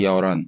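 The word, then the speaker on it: 열한: हियत की आवाज इतनी ज्यादा नहीं आती, वो साइलेंट हो जाता है, इसको कहते हैं यौरन, यौरन शी ये यो, क्या मैं यौरन शी ये यो 11 बजे है।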